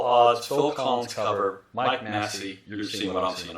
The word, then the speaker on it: Massé: I'm pretty sure it's Massé.